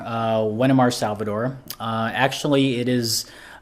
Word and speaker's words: Wenimar: east carolina so now i'm here well it's pronounced as wenamar uh wenimar salvador uh actually it is uh it's it's